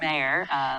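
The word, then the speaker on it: Mair: It's M-A-I-R, but pronounced Mayor, Louis Mayer this week.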